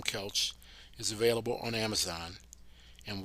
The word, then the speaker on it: Koelsch: It's a German name and the O is silent in English.